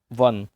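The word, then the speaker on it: one: इसी तरीके से वन, साउंड किसका आया? वाह का साउंड आया है। तो वाह क्या है? डब्ल्यू।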